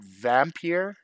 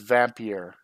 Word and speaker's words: Vampyr: how you say it it's VA MP Y R so I think with the Y on there instead of IR e instead of vampire it's vampyre if I'm not mistaken I could be wrong